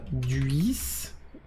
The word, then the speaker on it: Duisburg: Duisburg. C'est comme ça que ça se prononce ?